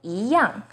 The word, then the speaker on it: 一样: 一 as in number 1 is pronounced as 一, but in 一样, it becomes the second tone.